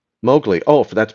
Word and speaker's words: Mowgli: Mo like cutting the lawn, glee like a glee club. Mowgli.